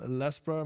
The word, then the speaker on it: Lasbra: your background you know yo what's up i'm lesbror my name is but i usually just